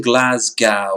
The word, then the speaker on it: Glasgow: born in glasgow now you have to say it right it isn't glasgow because it sounds like you're saying glass cow you say that good